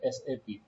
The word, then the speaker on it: SAP: आमतौर पे जब आप किसी भी ऑर्गेनाइजेशन में जाते हो तो बहुत से स्टूडेंट एसएपी को सैप कहते है जबकि सैट जो है एक रोंग प्रोनाउंसिएशन है वी हैव टू से एसएपी तो व्हाट इज द मीनिंग